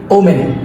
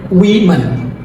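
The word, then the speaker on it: women: dessert যেটা মিষ্টি ডিসআর্ট তারপর আমরা প্রায় বলি ওম্যান শব্দটা হবে উইমেন উইমেন দেন আমরা প্রায় একটা ভুল করি খাবারের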